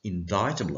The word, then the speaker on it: indictable: t a b l e offenses but it's pronounced indictable offenses are more serious kinds of criminal offenses